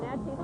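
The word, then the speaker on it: Naches: Natchez Valley High School is located in Natchez, Washington, and yes, that is how they pronounce it.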